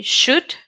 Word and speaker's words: should: have the next word the L is silent so you say should and the last one